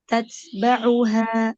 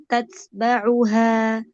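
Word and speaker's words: تتبعها: Jadi bunyinya tatsba'uha. Membacanya tatsba'uha. Bukan tatsba'uha. Tatsba'uha. Huruf ba-nya ya. Jelaskan harokat huruf ba-nya.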